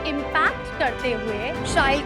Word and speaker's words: Shail: So as you just said, it rhymes with style.